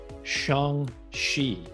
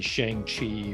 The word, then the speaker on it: Shang-Chi: a few days after, I guess we say Shang-Chi is really how it's pronounced, but if you want to say Shang-Chi or whatever, we can simplify it.